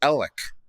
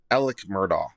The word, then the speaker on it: Alex Murdaugh: Alex Murdaugh chose to pronounce his name Alec, not Alec, to differentiate him from his dad. Okay, apparently it's Alec, not Alex. Alec Murdaugh. Okay, noted.